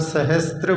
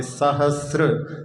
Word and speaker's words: सहस्र: हाँ, इसमें उच्चारण में कई बार लोग सहस्त्र बोल देते हैं, ता नहीं है, वहाँ पे सहस्र।